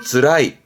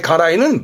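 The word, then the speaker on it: 辛い: 맨 처음에 맵다에 가라이 말했습니다만은 갑자기 다시 왜 나왔냐면 이때 발음은 드라이. 드라이 하게 되면 뜻이 바뀝니다. 괴롭다, 힘들다. 앞에 가라이는 맵다고, 드라이는 힘들다. 뜻이 달라지니까 챙겨두셔요.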